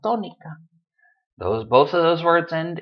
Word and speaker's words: tónica: of the lesson, sílaba tónica. Both of those words end in a vowel. It should be sílaba, but it's not. It's sílaba, syllable. It should be tónica, but it's not tónica, it's tónica.